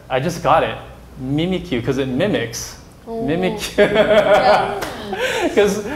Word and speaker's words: Mimikyu: Okay, so in English it's Mimikyu, and then in Japanese it's Mimikyu.